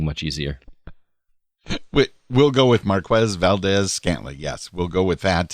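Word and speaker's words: Marquez Valdes-Scantling: I can never remember how to pronounce it. Marquez Valdez-Scantling. It's a mouthful. MVS rolls off the tongue much easier. We'll go with Marquez Valdez-Scantling.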